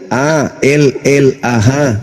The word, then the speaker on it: Allah: Itu ada, itu A-L-L-A-H, itu ada. Ya, itu bacanya apa?